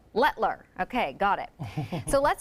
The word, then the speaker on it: Letelier: Letler. Letler.